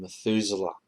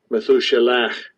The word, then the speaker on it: Methuselah: Methuselah. So that's how Methuselah, his name is pronounced in English Methuselah, but in Hebrew it's Methuselah.